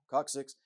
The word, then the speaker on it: coccyx: For example, the human coccyx, pronounced coccyx, called the tailbone, is supposed to be left over from when man was an ape and swung from trees.